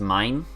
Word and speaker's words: Maine: I I realize that it's uh it's pronounced mine and one you're talking about the French province but I will probably still say Maine if I say talk about